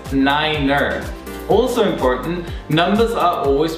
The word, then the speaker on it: niner: Same goes for number nine. Nine sounds like the German word nein, which means no, and therefore is pronounced number nine as niner.